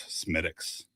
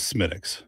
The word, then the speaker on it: Smithwick's: This is Smithwick's. Smithwick's. So the H is silence. You pronounce it Smithwick's or maybe even Schmidt's.